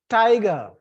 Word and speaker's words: tiger: So tiger, in this, the first syllable is stress, tiger.